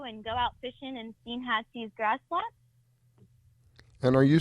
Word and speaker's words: Steinhatchee: It's pronounced Steinhatchee, Florida.